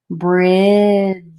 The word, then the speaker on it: bridge: you write it down bridge bridge bridge so as you run the sound together the d is silent as well so the d and the e are silent in this word when you run the